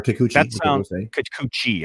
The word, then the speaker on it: Kikuchi: that all over social media um i'm gonna butcher the heck out of this but uh you see uh kikuchiya or kikuchi i think that's i think you got it